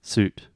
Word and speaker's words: suit: Soot, suit. Yeah, it's the sound. One you're making round lips, the last one, and the first one you're not.